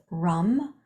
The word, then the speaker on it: ram: Palms together thumbs overlapping the sound is rum and you have to roll the r to make the sound you just do your best ram ram ram